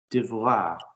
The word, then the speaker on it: devoir: Devoir. There's that nervousness around the throat that you don't like.